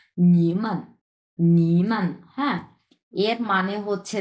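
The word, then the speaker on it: 你们: তাহলে প্রথমে হচ্ছে নি তিন নাম্বার টন এবং পরেরটা হচ্ছে নিউট্রাল টন সো একসাথে আমরা কিভাবে উচ্চারণ করব নিমান নিমান হ্যা এর মানে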